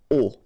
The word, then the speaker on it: aux: And then A plus les will become O, AUX, but then remember that phonetically it's O.